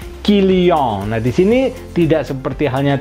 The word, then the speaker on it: Kylian: kalau sudah berhenti sebegitu bertanya kenapa kombinasi and berbunyi Om dan si igrek to di depan itu berbunyi i ya jadi kilyon abis ini tidak seperti